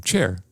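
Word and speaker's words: Cher: I know how to pronounce her name, Char, who tweeted about the Queen's death, offered her condolences, but had a little gaffe.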